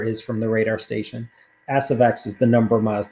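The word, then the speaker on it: s(x): The way you pronounce this is S of X.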